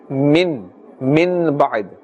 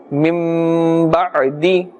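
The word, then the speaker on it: مِن بَعْدِ: We're not saying min ba'd. We are doing iqlab, and we are saying mim ba'd, mim ba', and then dal kasra di, mim ba'di. Now we are pulling or elongating the sound because iqlab is taking place, and therefore we must do ikhfa. We change the noon sakin, the sound of this, into a mim, and we do ikhfa.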